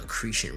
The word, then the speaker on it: accretion: The accretion rhymes with secretion.